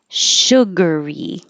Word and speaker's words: sugary: fast after just surgery sugary now this vowel is uh like took then don't round your lips it'll sound like sugar so sugary surgeon sergeant so